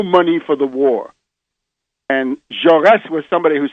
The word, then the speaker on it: Jaurès: And the other assassination, which I would point to, is the assassination of Jean Jaurès, Jaures, with a little accent on the letter E.